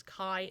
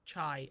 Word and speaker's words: chi: Please note it's kai, not chai. I often say it wrong.